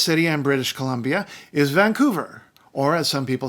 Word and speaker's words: Vancouver: Island the biggest city in British Columbia is Vancouver or as some people said Vancouver it is not on Vancouver Island Vancouver was